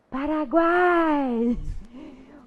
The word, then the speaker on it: Paraguai: Agora, Paraguai. O U foi pronunciado, o A foi pronunciado e o I também.